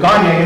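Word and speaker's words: Gagné: Some people say Gagne, but Gagne is apparently the way you pronounce it.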